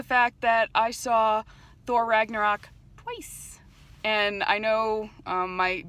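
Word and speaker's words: Ragnarök: one of us says Ragnarok cuz I think it's like Ragnarok something like that I you're supposed to like roll your R's it's like really complicated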